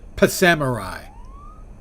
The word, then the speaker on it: Psamurai: full week already scheduled so you're Samurai I pronounce it pamai uhhuh I I hope